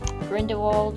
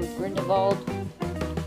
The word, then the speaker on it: Grindelwald: Yeah, that's pretty much it for him, Grindelwald, or Grindel-VALD.